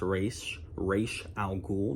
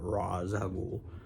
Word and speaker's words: Ra's al Ghul: By the way, it's pronounced Ra's al Ghul, not Ra's al Ghul.